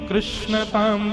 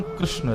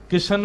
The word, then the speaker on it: कृष्ण: बंधुओं, मेरा ऐसा एनालाइज है कि कृष्ण शब्द का उच्चारण अधिकतर लोग अशुद्ध करते हैं। लोग या तो किशन बोलते हैं या कृष्ण बोलते हैं, मतलब जो भी बोलते हैं।